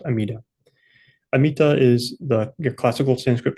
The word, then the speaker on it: Amida: So these two names come from dharmicures vows themselves and uh in short they are pronounced amida or amita. So that's why in Japanese Buddhism it's pronounced amida.